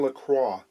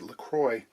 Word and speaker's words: LaCroix: 12 model from john lacroix of the bustling metropolis of st thomas ontario i suppose americans would probably try and pronounce it lacroix and you don't get away with that here i don't know